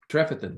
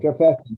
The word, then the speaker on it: Trefethen: Trefethen. Trefethen.